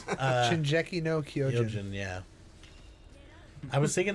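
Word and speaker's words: 進撃の巨人: No, it's Shinjeki no Kyojin.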